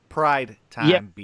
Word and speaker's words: Pride Time B: Is it Prime or Pride? I keep messing it up. Which one is it, Trav? Pride Time B. Okay, I said it. I said it right this time.